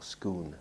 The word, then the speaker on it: Scone: from dunstaffnage and moved it to scone or scoon as the the must apologize to the Scottish people they it's written scone but they pronounce it skon scon yeah so it was moved to scoon and there's a there's a palace of scoon